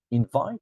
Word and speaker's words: invite: hurry not hurry hurry and then invite invite that second syllable invite right perfect I'm